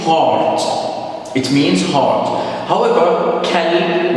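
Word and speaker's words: كلب: However, kalb with kaf, light letter, it means dark.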